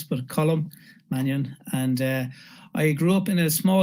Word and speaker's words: Colm Mannion: It's a very typical Irish name, so maybe a little difficult to pronounce, but Colm Mannion.